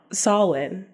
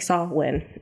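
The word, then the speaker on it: Samhain: I was like wait how do you even pronounce that oh sawin like saw win okay I was sawing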